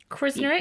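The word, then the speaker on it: Krznaric: Now, this first one is going to be embarrassing because I don't know how to pronounce the guy's surname. So there's a really brilliant philosopher called Roman Krasnarik. Krasnarik? Krasnarik?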